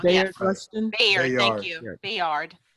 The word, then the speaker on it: Bayard: name wrong. Bayard Yes, Rustin? Bayard.